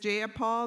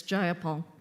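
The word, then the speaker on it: Jayapal: you agree with Miss ja Paul that there was no takeover it was just if you're gonna say my name please say it right it's jaia Paul jaia Paul do you would you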